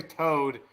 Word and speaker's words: Toad: It's actually Toad. T-O-A-D, like toad, like a frog. Really? It's not like T-O-E-D? No, it's toad, like a toad, like a frog.